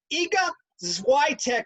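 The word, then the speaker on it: Iga Świątek: in the french open if i get this name right hopefully i do she was unranked ega this is why tech i believe is how you say that first polish person ever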